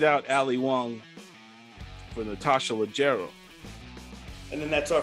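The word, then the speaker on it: Leggero: So we have Natasha Laguerro. Why do I keep saying her name wrong? It's Legero, right? Natasha Legero at number 5.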